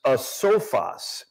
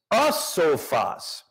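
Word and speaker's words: ἄσοφος: But the Greek word here, not as fools, is a sophos. It's spelled A-S-O-P-H-O-S.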